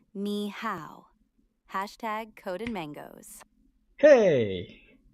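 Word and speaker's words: 好: Ni is like knee, and how sounds like how, but with a little rising bell on the O. So you're basically saying ni how.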